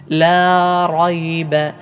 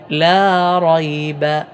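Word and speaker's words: لَا رَيْبَ: രണ്ടു രൂപത്തിലുള്ള ഉച്ചാരണം ഉണ്ട് ഏതായാലും ഇവിടെ റാഇന് ഫത്ഹ് വന്നാൽ എപ്പോഴും തഫ് അഥവാ തടിപ്പിച്ചുകൊണ്ട് ശബ്ദ പ്രതിധ്വനി വായനിറയെ ഉണ്ടാകുന്ന രൂപത്തിൽ തടിപ്പിച്ചു കൊണ്ടാണ് ഉച്ചരിക്കേണ്ടത് ലാ റൈബ ലാ റൈബ ലാ റ ലാ റൈബ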